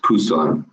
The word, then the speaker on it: Busan: bottom right you see Busan actually pronounced Pusan and that's where our